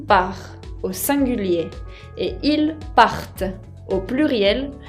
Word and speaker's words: partent: Ahora, fíjense que pour faire la différence entre il part au singulier et ils partent au pluriel, tengo que pronunciar bien la T final de la raíz al plural.